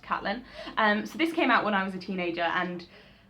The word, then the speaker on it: Caitlin: I'm pretty sure she likes her name to be pronounced Caitlin.